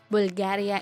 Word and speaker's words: Bulgari: this Italian company is included on the list Bulgaria itself has nothing to do with it it should be pronounced Bulgari number 8 Cartier you're all familiar